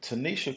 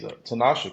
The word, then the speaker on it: Tanasha: We have Tanisha Coleman. She's Tanasha Coleman. I'm sorry.